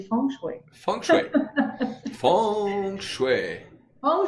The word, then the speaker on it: Feng Shui: Parce que tu sais, le chinois, c'est une langue qui est chantée aussi. Donc, c'est ça, la bonne prononciation, c'est Feng Shui.